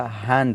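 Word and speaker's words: hand: For example हैंड, तो ये हैंड नहीं होता, हैंड होता है।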